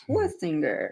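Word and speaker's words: Schwesinger: I want to swinger him, but it's Schwestinger.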